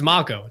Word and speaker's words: Mako: of people watching, and I'm like, guys, it's Mako. Don't be stupid. You don't say Mako.